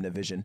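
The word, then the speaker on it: Nivison: That's how you say his name, Navision.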